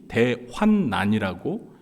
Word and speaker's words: 대환난: 우리가 큰 환난을 히 대환난이라고 그렇게 부르게 된 것입니다 그런데 우리가 지금까지 습관적으로 자꾸 대환 대란이라고 발음을 해서도 라고 이렇게 하는데요 이제 오늘부터 가급적에 대환난이 바르게 발음하는 것이 좋을 것 같습니다 혹시 여기에서 국문학을 전공하신